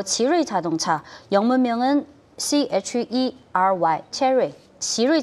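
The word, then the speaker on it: 奇瑞: 그리고 간단히 말 지르이 자동차가 지루이 자동차. 네. 예, 근데 예. 영문은 CHERY니까 체리로도 번역되고요. 근데 지르이 체리 자동차 자동차 어제 상장한 체리 자동차 네. 말씀하시는 거군요. 근데 중국어 네네. 발음이 지르이.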